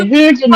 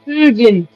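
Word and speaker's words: Huginn: Huggin' and muggin'. Is that how you say it? Or like we say, Hugin and Moonin. Hug them and mug them. And like a Swede say, Hugin, Moonin. I said hug them and mug them.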